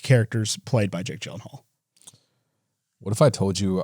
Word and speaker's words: Gyllenhaal: It's pronounced Gyllenhaal.